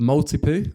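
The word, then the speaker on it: Maltipoo: Is it a multi-poo?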